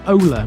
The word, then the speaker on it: Owler: Owler is pronounced Ola by the locals.